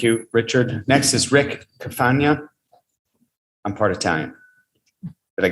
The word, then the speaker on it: Carfagna: Next is Rick Carfagna. I'm part Italian. Did I get that right? Yes, Carfagna, rhymes with lasagna.